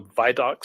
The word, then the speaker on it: Vidocq: It may have been online called the Vidocq Society. I may be pronouncing that wrong. Is that right? It's called the Vidocq Society.